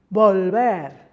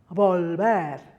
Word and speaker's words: volver: So for example, bebida, bebida, or volver, volver. The second one is just slightly softer, gentler.